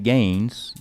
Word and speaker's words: Gaines: So Chairman Gaines, that rhymes with Saines, has made a motion to...